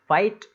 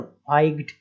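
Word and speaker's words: fight: 7 8, तो इस तरीके से 8, GH साइलेंट हो गया। फाइट, इसमें भी देखिए GH साइलेंट हो गया, फाइट इतना ही बोल रहे हैं हम, है ना।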